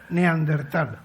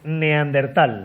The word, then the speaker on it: neandertal: Ahora solamente te falta que pronuncies correctamente neandertal. ¿Ah, sí? Vamos a intentarlo. A ver. Neandertal.